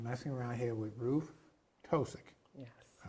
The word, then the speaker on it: Tosic: So that we've been talking and messing around here with Ruth Tosic. Yes. I pronounced it correctly.